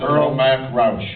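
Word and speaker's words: Earl Mac Rauch: The the writer, how do you pronounce the writer's name? I've never known how to say it. Earl Mac Rous. Earl Mac Rouch.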